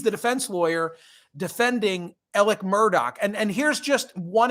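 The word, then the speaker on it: Murdaugh: the courthouse in South Carolina for the elec Murdoch trial that's how Valerie borlein from The Wall Street Journal uh pronounces his name and like she owns this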